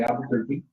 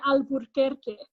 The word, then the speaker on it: Albuquerque: would say Albuquerque, and there's an extra R in Albuquerque, Albuquerque. And so white people, though, just didn't know how to fucking say Albuquerque, like most things that require you to roll your R's. And so they changed the name officially to Albuquerque so that you wouldn't have that extra R.